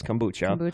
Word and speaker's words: kombucha: another kombucha to try I looked up how to pronounce it because I didn't know if it was kombucha or kombucha it is kombucha Jeff the brew doctors